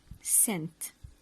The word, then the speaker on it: scent: of smell it's called scent so we don't pronounce the letter C when it when it comes after as scent this is a picture